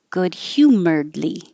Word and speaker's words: humoredly: perfunctory smile good humoredly good hue that h-y is hue good humoredly petulant petulant hold the tea